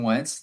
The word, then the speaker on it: Wentz: let you do that why did you say it like that just after praising this man it's Carson Wentz like 30 seconds ago now you're saying Carson wants name as if you know